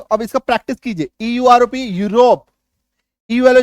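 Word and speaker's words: Europe: Next देखिए, जब किसी शब्द में ईयू आए तो ईयू का उच्चारण य में बड़ी उकार की मात्रा होती है।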